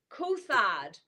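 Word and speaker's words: Coulthard: that I absolutely love his name is Ross kard and if you have not heard of him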